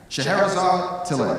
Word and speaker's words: Scheherazade Tillet: co-founder, along with her sister, how do you pronounce this? Scheherazade Tillet.